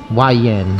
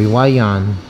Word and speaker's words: Hua Yuan: Is it Hap Chan or right? No, it's Hua Yuan. Oh, eh? Or Hua Yuan. Doesn't exactly. Yeah, it doesn't exactly rhyme with Hap Chan, but here you go.